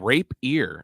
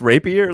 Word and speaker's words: rapier: Oh, I thought you said rape ear. I'm like, what the fuck's a rape ear? Isn't it pronounced rapier, like the little sword thing?